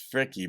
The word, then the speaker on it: Fricke: Some of you folks, I think like a year ago were like, it's Fricky. But I I see frick and I went to school with somebody with the same last name and he pronounced it frick.